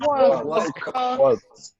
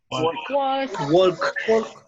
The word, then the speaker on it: walk: Walk. Walk. It's walk. Yeah, we You don't should pronounce try. no L. We don't say walk. It's just walk.